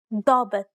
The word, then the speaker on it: ضابط: دائم ضابط. The first example is pronounced as expected. In the second example, however, the long A is once again pronounced deeply.